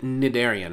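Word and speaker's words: cnidarian: takes hey uh nedelyrium oh i should know how to say cn because it's like nidarian right so cn the c is silent n delirium thank you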